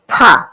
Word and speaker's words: ফ: ধা দন্তন দন্তনা পা ফা পা ফা ফা উচ্চারণ অনেকে ফা উচ্চারণ করে না উচ্চারণ করতে হবে ফ এভাবে ফ দুটো ঠোট লাগিয়ে ফা প ফ অন্তস্থ